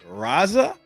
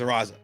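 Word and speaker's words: Raisa: Friend um I don't know how you pronounce this. It's R A I S A. So I say Raza and I think that's correct but you can also say Ra Raza. I think it's Raza. I think it's Raza.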